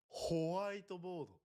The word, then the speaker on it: ホワイトボード: ホワイトボード It's white, not whole white. ホワイノ How do you say white in Japanese? 白ホワイトボード。